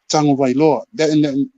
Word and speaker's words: Tagovailoa: Yeah, that's Tua Manu Lepola Tagovailoa.